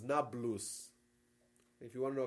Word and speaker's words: Nablus: today call it Nablus because Arabs can't pronounce the PE sound thus neop becomes Nablus if you want to